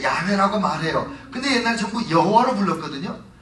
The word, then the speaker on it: 여호와: 옛날 전부 여호와로 불렀거든요 근데 왜 그랬냐면 성경을 읽다가 여호와 야훼이 히브리어가 나오면 가서 목욕을 한번 하고 와서 그 말을 읽는 거예요 그리고 읽을 때 야외 여호와께 발음을 안 하고 아도나이 이렇게 나의 주님 이렇게 돌렸어요 그래가지고 발음을 잊어버린 거예요 히브리어는 모음이 없어요 그래서 요즘에 현대 히브리어에이 점을 찍어서 모음을 만드는지 자음만 자음만 써서 했기 때문에 발음을 잊어버리고 만 거예요 그래서 여호와가 만약 야훼가마냐